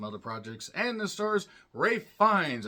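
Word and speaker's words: Ralph Fiennes: projects and the Stars Ray fines I keep wanting to say Ralph fines because that's how it's spelled he plays Lawrence who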